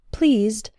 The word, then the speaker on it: pleased: The words please and the past participle or adjective pleased have the E sound, the same as in the words see, read, and keep. Please. Pleased.